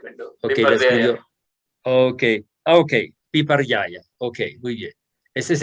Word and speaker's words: viparyaya: Now the second category is viparyaya. Viparyaya is the wrong understanding or incorrect understanding. La segunda categoría es, I want to hear you pronounce slowly the Sanskrit term for this second category, viparaya.